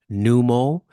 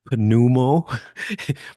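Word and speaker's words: pneumo: refers to the lung if you have numo or if you were to um pronounce it pumo but it's p numo or pulmonary it refers to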